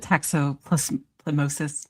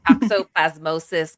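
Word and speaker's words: toxoplasmosis: I think the toxopplas plemosis. Is that how you say it? Toxopplasmosis.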